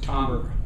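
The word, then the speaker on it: timbre: spelled t i m b r e it's pronounced tber and it it means the very nature and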